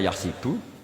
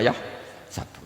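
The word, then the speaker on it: يَحْسَبُ: Karena dalam qiraat sab'a ada yang baca yahsibu, qiraat kita baca yahsabu. Tapi guru-guru kita kalau ngajar fikih itu bacanya yahsibu. Tapi kalau baca Quran yahsabu. Ya kan Quran kita kan ayah sabu Allah yaqdiru alaihi ahad, bukan dibaca ayah sibu.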